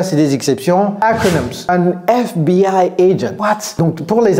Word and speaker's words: FBI: Parce que la prononciation, c'est comme si ça commençait par un E.